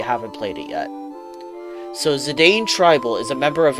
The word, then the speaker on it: Zidane: character monkey boy himself Zidane oh sorry Zidane as it's supposed to be pronounced but I refuse yeah a lot of